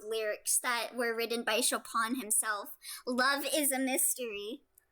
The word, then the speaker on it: Chopin: It's pronounced Chopin.